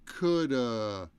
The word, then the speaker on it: could've: Could have becomes could've, right? As a contraction. Could've. But we just leave off the of and we say coulda.